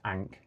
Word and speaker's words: Ankh: Ankh yeah, Ahmed. Ah, okay. Ankh yeah. I like, but it's pronounced Ankh.